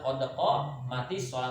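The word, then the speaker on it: قد قامت الصلاة: Qodokol mati sholat. Nah, qodokol mati sholat. Yang benar adalah qodoko mati sholat.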